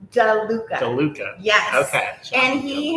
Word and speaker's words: DeLuca: Is it LaDuca or DeLuca? It's Johnny DeLuca.